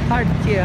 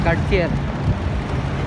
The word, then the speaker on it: Cartier: Cartier, hindi Cartier. Kasi yung pag-pronounce na rito, iba.